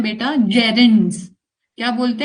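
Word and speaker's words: gerund: इसको बोलते हैं बेटा जेरंड्स। क्या बोलते हैं? जेरेंस। ये जी को ज प्रोनाउंस करोगे आप। गैरुंड नहीं बोलेगा कोई भी।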